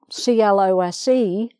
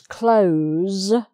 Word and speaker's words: close: see that the word c-l-o-s-e is spelt the same for all of these but the pronunciation for the verb is close with a zed sound and for the other